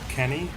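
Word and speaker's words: かに: they are called um c-a-n-y and you can pronounce that kanye which then means crap in japanese oh so the enemies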